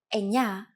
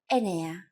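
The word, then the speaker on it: εννιά: Sometimes, though, especially in casual conversation, Greeks also use efta instead of epta, ochto instead of okto, and ennia instead of enea.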